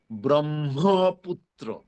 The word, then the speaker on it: ব্রহ্মপুত্র: ওই ব্রহ্মের মধ্যে হ আছে, হয়ের সাথে ম সংযুক্ত আছে, অতএব সেটার উচ্চারণ হবে ব্রহ্মপুত্র। প্রথম ম অল্প প্রাণ, পরের ম মহাপ্রাণ।